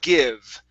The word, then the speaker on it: give: I also want to practice the word give right here instead of give. Okay, use a short I sound. Give.